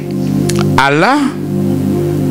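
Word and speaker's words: עָלָה: Alors, dans les contextes de ces textes, le mot vol en hébreu, c'est le mot Allah. C'est pas Allah de musulmans. Ça s'écrit A-L-A-H. Allah veut dire tout simplement monter, élever, grimper.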